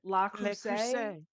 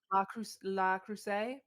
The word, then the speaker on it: Le Creuset: But it's the I don't know how you say it, Le Creuset. La Creuset?